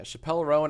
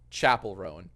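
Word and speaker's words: Chappell Roan: Yeah, Chappelle Rowan, I don't hate. Is it Chappelle Rowan? Am I saying it right? No, Chapel Rowan. Oh, it's like Chapel.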